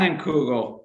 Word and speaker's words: Leinenkugel: I can't even pronounce that. What is the name of the beer? How do you say it? Leinenkugel.